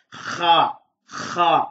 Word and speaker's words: خ: உதாரணமாக நாங்கள் தூங்குகின்ற போது என்ற அந்த சத்தத்தோடு குரட்டை விடுவது போல ஹா ஹா என்று நாங்கள் இதனை உச்சரிக்க வேண்டும்.